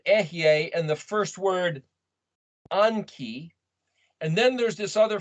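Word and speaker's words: אנכי: to exist i am is either anki sometimes pronounced anoki or it's or it's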